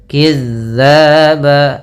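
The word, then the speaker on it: كِذَّابًا: Kemudian lafal kidzaba. Ah. Maka hati-hati dalam lafal kidz di sini ada huruf dal yang bertemu dengan huruf alif. Maka ada hukum tawjid berupa mad thabi'i ya. Ee kemudian ba ada mad iwad yaitu fathatain bertemu alif pada akhir bacaan kita.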